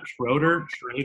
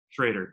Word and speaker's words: Schroeder: It's pronounced Schroeder. Schroeder, great. But it's annoyingly confusing because it looks so confidently like Schroeder, but as it turns out, that's a trick. It's Schroeder.